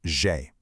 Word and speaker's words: j'ai: J'ai is pronounced j'ai. Just perfectly smooth, kind of like the name Jay, but with a soft buzzing zh sound. J'ai, meaning I have.